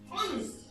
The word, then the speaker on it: honest: I pronounce the word honest. I have to say honest and not honest. So automatically this becomes silent and the first word, my word, begins with the word O.